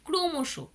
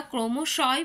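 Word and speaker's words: ক্রমশঃ: ক্রমশ ক্রমশ যে কথাটা আমরা বলি ক্রমশ ফলত আমরা বলি ফলতু যখন তোমরা সংস্কৃত পড়ছো তখন কিন্তু তোমরা ক্রমশয় বলছো ফলতয় বলছো কারণ তখন সংস্কৃতের ব্যবহার হয় কিন্তু যখন এটা বাংলাতে প্রবেশ হয় তখন উচ্চারণের জন্য বিসর্গ গুলো বর্জিত হয়ে গেছে এর ফলে অহ যোগ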